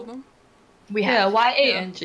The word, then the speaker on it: Yang: Yeah, Y-A-N-G is like, pronounced as Y-O-U-N-G, Yang.